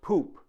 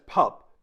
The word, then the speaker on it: Pupp: It is pronounced Poop, but commonly mispronounced in English as Pup because of the spelling.